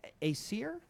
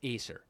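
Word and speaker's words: Æsir: Or do you pronounce it Acir? Um I I put the accent on the first syllable. I think it's Acer.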